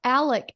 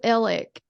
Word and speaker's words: Alex: feel it sorry um he pronounced it himself on the stand though Alec murdick but everybody else says elik or ellick we watched something I